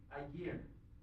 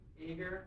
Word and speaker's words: Aegir: Yeah, the first point of contention is how to pronounce the word. Aegir. It's a good question. So there's an Icelandic phonology. Remember all that means? I did talk to a French-speaking person yesterday, and this is probably correctly pronounced something like Aegir. I can't do the French sound. But we tend to say Aegir or Aegir or Aegir or Aegir or whatever you want.